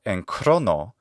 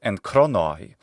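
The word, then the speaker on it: ἐν χρόνῳ: And of course, this is not en chrono, not in classical Attic, it's en chronoi. We need to hear that subscript iota.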